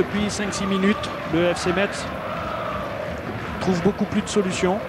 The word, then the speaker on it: Metz: Lolo, je t'ai dit qu'on disait Metz, c'est pas Metz.